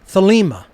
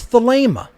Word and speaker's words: Thelema: alpha gamma alpha pi eta how do you pronounce agape you don't say agapi you wouldn't say thalima it's the lemur the ada is a long